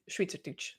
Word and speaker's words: Schweizerdeutsch: So yeah, it would be pronounced Schweizerdeutsch.